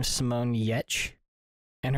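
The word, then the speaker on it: Giertz: her name is Simone yetch and her last name is spelled g i e r t z I think but it's pronounced yet is she a gamer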